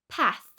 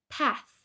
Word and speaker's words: path: An example of a voiceless TH is in the word path, path, path.